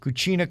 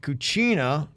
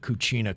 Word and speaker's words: cucina: other day that your cucina cabana ad you are pronouncing the word cucina which means kitchen with an h at the end so it sounds like cucina and that means dirty